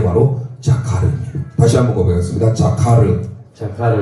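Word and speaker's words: זכר: 이 자인이 지읒 발음이에요. 지읒. 늘 말씀드렸죠? 이 카메츠라고 하는 우자가 생긴 게 아 발음입니다. 아. 그게 나중에 구본손인데요. 기억이에요. 기억. 그 다음에 이것도 파타월에서 카, 자카, 이걸 레쉬라는 단어 르 소리 납니다. 그래서 자카르 이렇게 읽게 됩니다.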